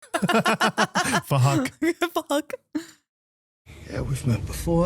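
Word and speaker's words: Phuc: It was spelled with a PH, so it sounds like Fahak. Fuck.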